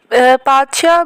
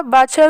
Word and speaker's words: पादशाह: उसका क्या रवैया था पादशाह बादशाह को उर्दू में इंग्लिश में सॉरी यह पी से प्रोनाउंस करते हैं एंड ओल्ड लिबरल्स